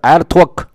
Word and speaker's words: 鄂托克: 组成啊，鄂托克发音应该是 Altok，就是部落的意思啊。